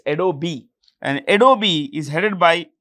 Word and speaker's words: Adobe: Adobe, the E is pronounced. It's pronounced, okay? It's Adobe.